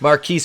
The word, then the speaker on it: Marquis: on the news saying marquise pronounced marcus because he's [ __